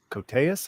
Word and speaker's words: Koteas: Yeah, but I've always loved Elias Koteas, I think it's pronounced.